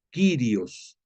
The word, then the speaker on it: Kyrios: Hay otra palabra de origen griego, el Kyrios, no sé si lo has escuchado, Kyrios, como si fuera sirio, haz de cuenta, pero lo pones con K de kilo, Kyrios, pero lleva I latina.